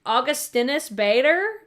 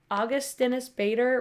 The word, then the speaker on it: Augustinus Bader: so this is from I think it's pronounced augustinus Bader augustinus Bader right I hear more makeup